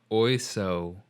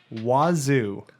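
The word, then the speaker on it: oiseau: of french in english oiso okay now you're an idea of french oy song actually it is pronounced wazoo that i would spell w-a-z-o-o like kazoo wazoo so what does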